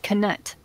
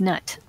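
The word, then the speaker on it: Knut: She pronounced it canut. I always thought it was nut. I thought the K was silent.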